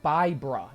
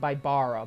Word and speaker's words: Bibra: Oh, yeah, Bybra, not Bybara, Bybra.